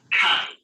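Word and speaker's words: χ: The 22nd letter of the Greek alphabet is called chi. In the capital, chi is written as capital letter S of the English language, and it is pronounced as you have in chemical.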